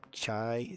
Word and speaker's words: Chiretta: Your hometown is Chiretta, I believe is what it's pronounced as. Chiretta. Chiretta. Our hometown of insert exposition phrase here. Yep, Chireta.